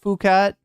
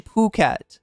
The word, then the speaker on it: Phuket: Are you thinking it's pronounced Phuket or or it? Right. It's actually Puket, right?